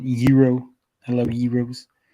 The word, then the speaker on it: gyros: the greek getaways or as the uh greeks pronounce it hero i love you rose